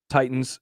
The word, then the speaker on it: Titans: Titans, Equitable, Creighton, and who knows how many other things there Titans. What are we doing? are. It sounds like there's a D when you say it. Titans. I'm Titans, yeah, it sorry.